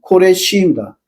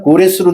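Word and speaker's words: כורש: 파라스 시조왕 페르시아의 시조왕 코레시입니다. 기억성에는 고레스로 돼 있죠.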